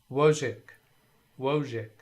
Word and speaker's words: Wojcik: Okay, so Wojcik. Wo, O is the hard O, long O in my terminology. Wojcik. So I is soft I or short I, hic, and don't pronounce the C.